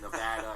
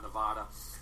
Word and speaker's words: Nevada: Nev Nevada I which I learned how to say it properly it is Nevada and not Nevada um you know uh